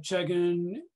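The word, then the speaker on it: Chegin: But let's talk about Victor Chegan. I think that's how you pronounce it, yes?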